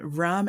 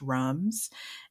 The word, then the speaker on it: rhum: So the French, it still sounds like rum, but it's spelled RHUM. Ugh, of course. Of course. And rum agricole uses the fresh